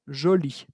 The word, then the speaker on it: jolis: Ils sont jolis. Agregué la S como lo tenía que hacer y es muda.